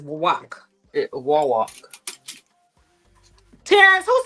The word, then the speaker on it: Wawak: wall walk.